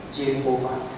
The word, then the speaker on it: Jehovah: Bacanya yang benar Jehovah. Walaupun saya bukan saksi Jehovah, tapi mereka benar dalam hal ini. Nah, ada kelompok Sulagi dan teman-temannya itu salah bilangnya Yahweh itu.